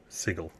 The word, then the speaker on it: Sigil: shouldn't be a problem sigle it's a hard G sigle there you go he's